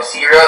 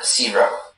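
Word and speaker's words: sirop: So, zero is the only pronunciation. It's a noun, and it means a syrup of concentrated fruit juice, sugar, and water. The word is from French, and the sentence is, the store sold sugary zero. Zero, just to make sure, are there any alternate pronunciations? There is just the one, zero.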